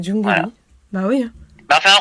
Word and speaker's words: Jungeli: Il a du mal à dire Jungelli hein. C'est Jungelly.